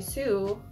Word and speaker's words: Soo: the mikado avocado and Stephanie sue sue y'all that's how you say it not so soup so I've been watching